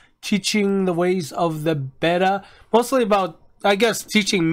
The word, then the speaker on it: Betta: So I think I said it right. Betta, right? Not beta?